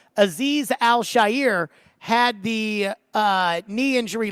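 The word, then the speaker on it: Azeez Al-Shaair: about the torn MCL in the knee that Aziz I'll share or excuse me as TD points out that's how it's pronounced Aziz al-shair had the uh knee injury last year and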